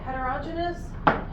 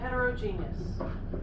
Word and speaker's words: heterogeneous: mean different textures okay so heterogenous heterogeneous there's two ways to say it I use both of those ways interchangeably so you guys can